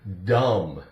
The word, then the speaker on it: dumb: Here we have the word dumb. D-U-M-B. Dumb. Again, we have duh, the D, duh, silent B.